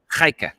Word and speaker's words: Gaika: Gaika. Say again. Gaika. Or maybe with a more softer G because it's like Flemish, but Gaika.